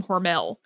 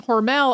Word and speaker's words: Hormel: their last name was originally pronounced horrible to rhyme with normal and it's not totally clear when Hormel became Hormel um because we've both been saying Hormel all our lives and